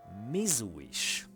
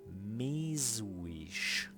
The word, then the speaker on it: mizújs: So the pronunciation of this one, which is mizújs, and I'm gonna repeat that, mizújs. It's kind of sounds a bit Slavic, but so it's like mizújs.